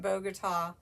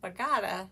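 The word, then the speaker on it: Bogata: um bagada texas and i was calling it bogota and uh somebody that actually lives there commented says bagata so there you go now you know in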